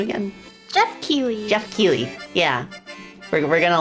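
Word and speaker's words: Keighley: GF uh how do you how do you pronounce his last name again? Jeff Keley. Jeff Keely.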